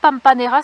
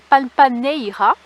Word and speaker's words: Pampaneira: village de P alors c'est pas pampanera c'est Pampaneira parce que bah les sons ne se prononcent pas ici en Espagne vous entendrez jamais quelqu'un dire le son on le son ou ou des choses comme ça là je suis